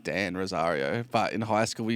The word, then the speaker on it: Rozario: Is it Rosario? It's Rozario. yeah.